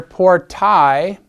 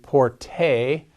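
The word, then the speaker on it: portae: the second form here poor tai by the way that a e there is a diphthong that is it's a combination of two vowels that is pronounced as a singular vowel or as one vowel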